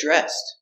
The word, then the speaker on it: dressed: And the DR is pronounced with the J sound, like jump. J. Dressed. Link the sounds. Get. J. Get. J. Get dressed.